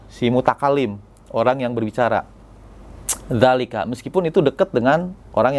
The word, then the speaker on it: ذلك: Jadi bacanya enggak dzalika gitu ya, atau dzalika gitu, enggak, tapi za-nya yang panjang, dzalika gitu ya.